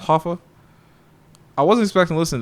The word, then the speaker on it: HOFFA: I believe it's pronounced Hoffa. I wasn't expecting to listen to this, honestly. Someone else put me on. It's called Hoffa, like Jimmy Hoffa.